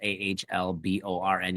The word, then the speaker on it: Ahlborn: I mean, I'm on Facebook, just my name, Alborn. The H is silent, so it's AHLBORN.